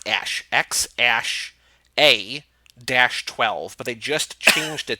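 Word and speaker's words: X Æ A-12: don't x AE which is like they it's pronounced ash X ash a - 12 but they just changed it to - XII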